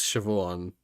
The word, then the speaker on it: Siobhan: is is like this this is this is Chevon the way that I've seen it spelled in